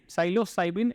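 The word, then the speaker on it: psilocybin: ठीक है, P silent होगा, साइलोसाइबिन.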